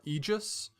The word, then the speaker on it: Aegis: best kind of people is Aegis that's the way I've always used yeah so it's like a long e sound for AE like Caesar whether or not that's